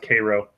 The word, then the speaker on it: Cairo: It's pronounced Cairo.